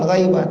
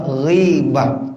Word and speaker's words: ghibah: Nah, ini bacanya bukan ghaibah tapi bacanya ghibah.